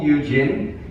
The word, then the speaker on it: Yu Jin: my name is Yu Jin it's pronounced the same way as a novel Eugene and it's why you